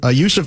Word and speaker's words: Yusuf: Hey, real quick, an aside, how do you pronounce Nurkic's first name? It starts Yusuf. It is Yusuf.